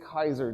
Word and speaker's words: Caesar: The reason that battle took place is because of what a guy named Gas Julius Kaiser did. You guys incorrectly call him Julius Caesar.